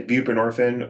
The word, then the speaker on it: buprenorphine: You can say buprenorphine or suboxin is a is a tamper resistant form of buprenorphine. Okay. Buprenorphine. Thank you. So um this person was given buprenorphine while he was still at the halfway house.